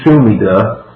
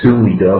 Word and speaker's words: Sumida: tree is constructed in sumida you know my good pronunciation there suid for those of you who AR in the Japanese that's how you say it Tokyo Joe Knows Tokyo